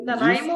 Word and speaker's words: Nanaimo: Here's another one near Nanaimo. Nanaimo is easy. Yep. Did they get it right? Nanaimo?